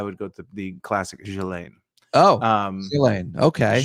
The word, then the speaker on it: Ghislaine: I would go to the classic Ghislaine. Oh, Ghislaine. Okay. Ghislaine. I mean, I think in France, that's how it would be said.